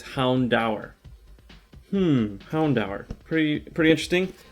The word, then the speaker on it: Houndour: have hound hound hour i thought it was hound door hounder hound or i didn't think it was pronounced hound dower according to this book it's hound dower hmm houndour pretty pretty interesting um i've been